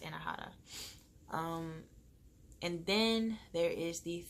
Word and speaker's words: Anahata: Oh, and I forgot to say too, the heart chakra, that one's pronounced Anahata.